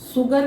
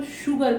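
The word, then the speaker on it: sugar: श पढ़ रहे हैं, सुगर नहीं पढ़ रहे, सुगर भी नहीं पढ़ रहे, हम इसको शुगर पढ़ रहे हैं।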